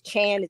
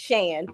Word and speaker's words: Chan: it looks like it's Chan it's confusing I like you know that's the real way you spell it too is but it's pronounced Shan but I like it